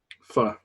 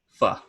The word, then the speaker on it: pho: Pho. Pho.